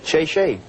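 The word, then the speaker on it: 谢谢: Oh, thank you in Chinese is shay shay.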